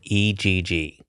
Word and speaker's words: egg: Oh, A-Y, as opposed to the correct pronunciation, eggs. Which is E-G, egg.